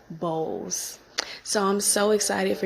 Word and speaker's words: Bowles: I wanted you to really know how to say it um so sue bows so I'm so excited